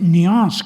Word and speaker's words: nuance: Matiz se dice nuance con la pronunciación francesa, y luego otras palabras